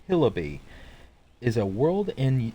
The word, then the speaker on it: Hillibee: it reads welcome to Hillary Creek pronounced hillabee is a world in